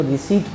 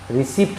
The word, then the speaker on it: receipt: उसी तरह से एक शब्द है RECEIPT, यहाँ गौर करिए पी के बाद टी आ गया है, इसीलिए हम लोग इसको रिसीट पढ़ते हैं, रिसिप्ट नहीं पढ़ते।